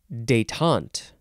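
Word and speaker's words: détente: deal with this nonsense this word is daytont emphasis on the second syllable it is spelled d-e-t-e-n-t-e and you can put an accent on the very first e that goes Boop or no accent that's fine too detaunt noun from 1908 one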